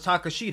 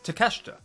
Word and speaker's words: Takeshita: But Konosuke Takashita, I thought it was Takashita. It's Takeshita.